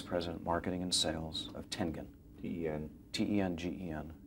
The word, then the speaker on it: Tengen: Senior Vice President, Marketing and Sales of Tengen. T-E-N. T-E-N-G-E-N. Tengen, hard G.